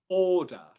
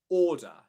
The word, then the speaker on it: order: So in order, for example, the first syllable is spelt O-R. That R sound usually means that it's going to be a long vowel sound before it, which it is. Or, order. Okay. In the second syllable, it's a schwa sound. So you can also, at the end of a word or in an unstressed syllable position, you can have a schwa sound which replaces the R spelling.